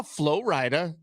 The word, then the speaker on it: Flo Rida: I saw Flo Rida. I was exhausted after that It's concert.